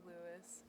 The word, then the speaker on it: Lewis: Make sure we get it pronounced correctly. Yes, it's Lewis.